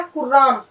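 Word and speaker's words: كُرّام: ये क्या हो गया, कुर्राम। लिखा ऐसे ही जा रहा है, लेकिन इसको हम इसका जो प्रोनाउंसिएशन है वो मुख्तलिफ है, तलफ़ुज़ जो है इसका बिल्कुल अलग है। ये किराम है, वो कुर्राम है।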